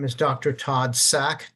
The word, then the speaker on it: Sack: sack thank you my name is Dr Todd sack t o d DS a k I'm executive